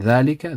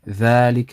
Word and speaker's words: ذلك: And ذلك, the alif after the dal, is pronounced but not written also.